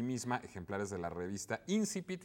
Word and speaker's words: Incipit: Bueno, y tenemos también por una cortesía de sí misma ejemplares de la revista Incipit, y ahora sí lo pronuncio con el acento correcto, no que luego se me olvida.